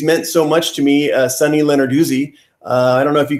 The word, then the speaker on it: Sunny Lenarduzzi: Yes, it's actually just Sunny Lenarduzzi, Lenarduzzi.